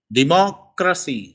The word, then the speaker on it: democracy: For example, democracy, mo is stress.